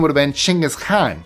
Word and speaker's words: Chinggis Khan: His name would have been Chinggis Khan. That's how it's pronounced in Mongolian.